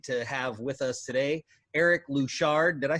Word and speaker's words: Eric Louchard: I'm Mac, and we are excited to have with us today Eric Louchard.